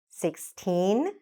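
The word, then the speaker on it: sixteen: you say them now 16 60. so what you want to do is to make sure you elongate the first one and really shorten the second one 16 60.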